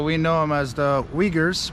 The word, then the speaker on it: Uyghur: know them as the uyghurs we call them but they're actually pronounced ogres so we'll be running